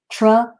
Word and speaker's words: trick: has the k sound you only need to pronounce that k sound once okay so true and the i has the e sound and the ck has the k sound trick trick trick okay trick